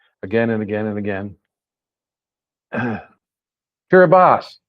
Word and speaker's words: Kiribati: Kiribati, there it is, that TI diphthong pronounces an S.